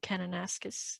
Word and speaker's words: Kananaskis: and i were um thinking of going to kananaskis county tree yeah right now you said it